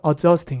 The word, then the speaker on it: adjusting: 그러니까 발음하실 때 어드 저스팅이 아니라 뭐랄까 어저스팅 이렇게 발음하는데 그래서 이 발음을 거의 안 해요.